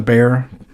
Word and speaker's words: Bexar: the rock wall and the bear it's spelled bexar but that's just because texans are silly um but it's there's